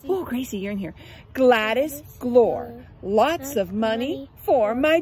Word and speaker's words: Glor: it's okay to use the name Glor to rhyme with drawer because she says Glore